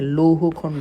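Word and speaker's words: লৌহখণ্ড: উচ্চারণটা আসার মতো হ্যাঁ উচ্চারণ এটা হচ্ছে উচ্চারণ হবে লৌকারে লৌ হকারে হ আমি একটু লিখে দেই লৌকারে লৌ রস লৌ উকারে হ লৌহ খ দন্তন্য ডকারে ড লৌহ খন্ড এটা একটা সংস্কৃত শব্দ হ্যাঁ যদি আসে লৌহ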